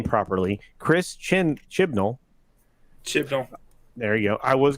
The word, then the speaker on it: Chris Chibnall: showrunner, I'm going to say his name properly, Chris Chibnall.